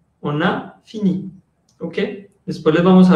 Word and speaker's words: fini: Y dos, siempre va a tener el acento tónico, siempre va a sonar fini. Nunca se va a decir fini en francés, eso no va a existir.